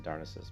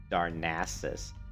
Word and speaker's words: Darnassus: to darnassus or nasa i was pronouncing darnassus but i guess it's technically pronounced darnassus darn those night elf asses right oops sorry we